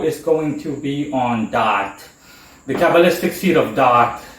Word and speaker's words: Da'ath: now this video is going to be on dot the kabbalistic seed of dark that's how dark is pronounced and it's spelled D double a t